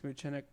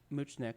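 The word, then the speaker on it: Mutchnick: creators relationship so max muchennik uh and david cohen are the um are the are the creators of the show so max moochnick sorry said his name wrong the first time uh he was uh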